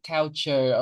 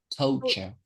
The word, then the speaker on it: culture: This one, the last time you pronounce it, it's like cow cow couchure or something. Okay. We say correct to culture. Okay. Once again, the Vietnamese culture.